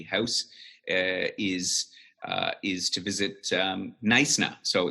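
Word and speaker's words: Knysna: is is to visit nice now so the pronunciation is silent and I got that right right it's called nice now that practice my pronunciation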